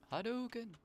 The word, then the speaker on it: Hadouken: Why is your Hadouken pronunciation on point? Hadouken.